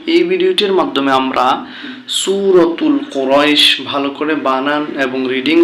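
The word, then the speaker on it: قريش: জবর ইয়া জজম রই কুরাই শিন দুই জেসি শিন কুরাইশিন যখন আমরা এখানে থেমে যাব তখন শব্দটা উচ্চারণ হবে কুরাইশ লি হামজা খাড়া জের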